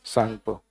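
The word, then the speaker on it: Tsangpo: सांगो T silent होता है।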